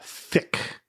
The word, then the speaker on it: Fitch: I chose to go with Fitch because it's actually pronounced Fick, the old Austrian family name from before my great-grandfather emigrated from Austria to Canada.